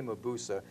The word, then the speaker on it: Mabuse: had four hits busa see I've spent years mispronouncing all of this I learned how to pronounce it from four years ago I've seen the films - they say Moe Busa in testament of dr. Mabuse of the thousand eyes of dr. mabuse's that's how pronounced here we go free